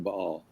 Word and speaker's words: Baal: Sometimes pronounced Bale, but it's actually Bahal.